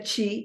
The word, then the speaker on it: Qi: En el medio está el Qi o Qi, que en realidad se pronuncia Qi, aunque se escriba como Qi, que es nuestra fuerza vital.